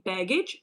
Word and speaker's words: baggage: So this A, we don't pronounce it as A, as E. So we pronounce it as I. Baggage, baggage. Or luggage, luggage.